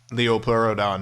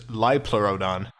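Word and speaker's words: Liopleurodon: This is terrible, but I mispronounced Leopleurodon in this cartoon, which is funny because now this is probably more people probably know the name as the mispronouncement than the actual correct term, which is Lipleurodon.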